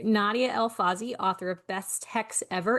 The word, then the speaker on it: Nadia El-Fassi: And on this spotlight I am welcoming author Nadia El Fazy.